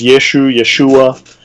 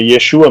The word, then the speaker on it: Yeshua: like, how would it be pronounced, may I ask, according to the tongue of, I guess, the Jews at the time? Different. So there's some degree of ambiguity. There's Yeshua.